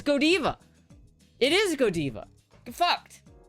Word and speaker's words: Godiva: And in Belgium, it's pronounced Godiva. In the place of its origin, it's pronounced Godiva.